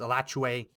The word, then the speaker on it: Alachua: And I found this website, Alachua, or I've even heard it sometimes pronounced Alachua Chronicle, a local news website in Florida, I believe around Gainesville.